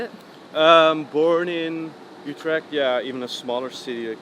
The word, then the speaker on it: Utrecht: you were born in whose tract is how you say it born in Utrecht yeah even a smaller